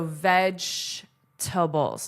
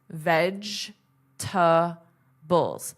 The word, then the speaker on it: vegetables: Vegetables. So, veg- tables. Notice that pronunciation. This is silent. Veg- tables.